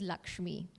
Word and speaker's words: LXME: of the company uh the pronunciation is Lakshmi okay and Lakshmi is